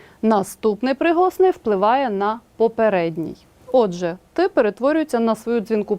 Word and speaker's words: отже: дзвінки в рядку наприклад у слові от же глухий Т по-перше стає дзвінким а по-друге передшиплячим також стає шиплячим а саме африкатою д Подивіться будь ласка